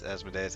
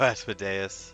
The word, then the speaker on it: Asmodeus: three different versions of the asmodeus as my days however you want to pronounce it I typically go aspadeus uh even though I think it's supposed to be as modious uh Mephistopheles uh and